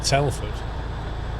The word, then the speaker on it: Telford: Have you ever heard of Telford?